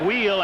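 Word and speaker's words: Weil: Jack Wheel and that is the way he pronounces it.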